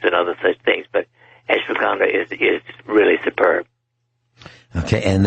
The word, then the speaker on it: ashwagandha: root powder called an f i hope i'm pronouncing this right ashwagandha a s h w a g a n d h a ashwagandha root powder now can you tell our